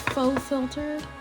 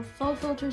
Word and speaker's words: Faux Filter: coverage okay going into the I believe it's pronounced faux filter concealer I have it in the shade Prine